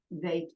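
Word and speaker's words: ב: the bait is B VAP is V gimel good dollet hey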